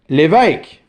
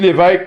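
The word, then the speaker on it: Lévesque: But since the bishop himself has a circumflex accent, well, we pronounce the family name as if it had a circumflex accent also. Donc, les l'évêques, vous m'avez compris. Il y en a beaucoup de l'évêques, vous savez qui vous êtes, c'est merveilleux.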